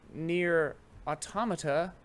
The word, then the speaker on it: Nier Automata: But mostly I've been playing Nier Automata. And that's how I'm going to pronounce it, because that's how that word is pronounced.